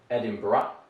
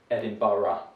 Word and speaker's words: Edinburgh: very beautiful city edinburgh there are different pronunciations some people say edinburgh and other people prefer edinburgh so my pronunciation is